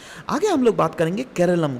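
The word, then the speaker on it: കേരളം: है, नाम क्या है, केरलम। इसको कंसिडर किया जाता है एज a closure reflection of original Malayalam pronunciation.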